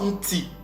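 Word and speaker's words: nti: vous voyez ça donc ça se prononce n ti alors retournons maintenant maintenant que nous avons la bonne prononciation de ce mot-là c'est une ti parce que le N que vous voyez au devant c'est juste la nasale donc ti on veut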